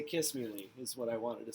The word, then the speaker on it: Kissimmee: officers crashing into vehicles and this happened and kissimmee kissimmee kissimmee i wanted to say kiss me lee is what i wanted to say sorry it